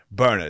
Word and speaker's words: Byrna: Burner. It's spelled Byrna.